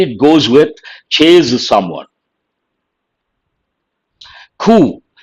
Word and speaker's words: coup: Coup. People mispronounce this also. Here, the letter P is silent. It is a noun, coup.